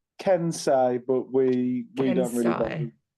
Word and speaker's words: Kensei: it right aren't I so it's um it's keni but we we don't really we we we don't we're don't really bother people pronounce it as long as you know the